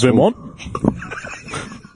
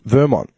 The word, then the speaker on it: Vermont: I remember the first time It's just heavy on the T. No, it's heavy on the second syllable altogether.